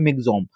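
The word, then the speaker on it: Michaung: को आप ध्यान रखिए इसको प्रोनाउंस किया था मिगोम लिखा मिजोन है लेकिन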